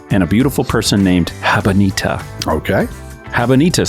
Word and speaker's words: Habanita: Habanita.